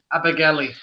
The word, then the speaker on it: Abergele: So it's spelt Alpha, Bravo, Echo, Romeo, Golf, Echo, Lima, Echo, Abergelly, You're starting to scare.